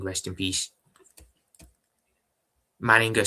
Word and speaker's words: Manninger: So horrible news, but may Alexander Manning rest in peace. Manninger, sorry, apologies. I feel like an idiot now. I've just said the name wrong.